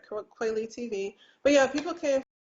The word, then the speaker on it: Kweli: I used to call it Kweli TV, like Talib Kweli, because I thought that's how you pronounced it. And then some people from Kenya who speak fluent Swahili was like, no, it's Kweli.